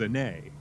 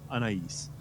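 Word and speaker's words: Anaïs: Like, so the pronunciation that made sense in my head was Ane, because generally S's in French tend to be silent. So yeah, but Anais.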